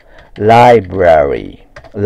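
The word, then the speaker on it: library: んだよねあとライブララリーとかねなんかこんな風にやる人いますねうんこれはもう本当発音してない発音をねきちんとしてないとえ正しくはねもちろんこれなんだけどもあごめんえ間違ったあれ丸とこうかライブラリーライブラリーライブラリね l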